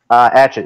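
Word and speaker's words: Yigit: Adjit. It's spelled Aigit.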